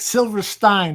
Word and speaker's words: Silverstein: Silverstein. Did I pronounce that correctly? Yes, you did.